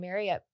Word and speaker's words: Marriott: Marriott. Did you know It's that? Marriott. I know. It rhymes with chariot. If you Chariot. just say chariot, Marriott. Marriott.